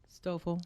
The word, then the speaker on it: Stoffel: Is that how you pronounce that, Miss, please? Stoffel.